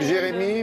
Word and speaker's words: Gérémy: Il s'appelle Jérémy, mais ça s'écrit avec un G.